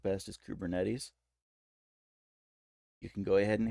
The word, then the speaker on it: Kubernetes: you can use and I I've heard this pronounced a couple ways the way that I like best is kubernetes you can go ahead and hate on that